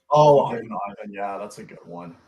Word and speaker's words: Ivan: Oh, Ivan. Yeah, that's a good one. Yeah, that's pretty funny. Apparently, his name pronounced in Switzerland is supposed to be Ivan. That's funny.